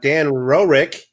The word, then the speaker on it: Dan Roerick: And of course, we're excited to have Dan Roerick. Did I pronounce that right?